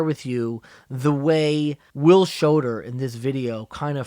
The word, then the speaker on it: Schoder: His name is Will Shoder, Will. Shoder is spelled Schoder.